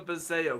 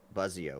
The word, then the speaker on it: Buzzio: one so that is that is the most common mispronunciation of my name I get um it's probably I think people probably say that more than buzzio which is the correct way of saying it you know the